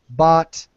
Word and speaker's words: bought: Just rhyme it with not. Not, bought, brought, taught, fought, caught.